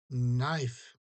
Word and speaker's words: knife: With a knife. We don't pronounce k. Knife.